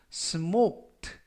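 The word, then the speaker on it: smoked: 그러고 발음 하시면 되겠고요 이 때 유의하실 점은 스모크 트가 아니라 크 발음이 거의 나지 않고요 스모크 라고 발음 하시면 되겠습니다 범 사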